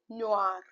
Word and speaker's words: noir: So, u loop loop letter n o i. Please understand o i. The pronunciation is o right. So here the pronunciation will be noir.